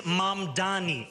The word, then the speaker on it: Mamdani: And furthermore, the name is Mamdani, M-A-M-D-A-N-I. You should learn how to say it because we got to get it right.